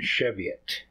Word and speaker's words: Cheviot: I looked up the pronunciation. Cheviot.